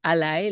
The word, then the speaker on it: ALLi: Al I for short but we pronounce it Ally like you have a friend and Ally so that podcast is